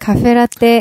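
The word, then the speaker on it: カフェラテ: 카페라떼. F 발음을 안 주는 척하면 살짝 주네요. 네, 살짝 줍니다. 아, 이도 아니고 저도 아닌 어중간한. 그래도 한국말보다는 F 발음에 좀 많이 카페라떼, 네, 알려준다는 이렇게.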